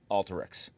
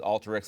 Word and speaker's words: Alteryx: I wrote a bull of the day on Alteryx and that's the way you pronounce it you might hear people say Alteryx but company pronounces Alteryx like the word alter I so I published